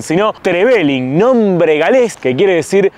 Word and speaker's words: Trevelin: Y estamos en esta ciudad que no se dice ni Trevelin ni Trevelin, sino Trevelin, nombre galés que quiere decir ciudad del molino.